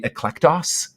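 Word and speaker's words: ἐκλεκτός: It's actually eklektos is how you'd pronounce it.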